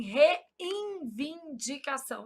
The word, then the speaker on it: reivindicação: A gente nasaliza esse N pronúncia. a gente fala assim, reivindicação.